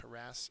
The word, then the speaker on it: harass: fertile next is harass harass uh is a verb second syllable again a pretty easy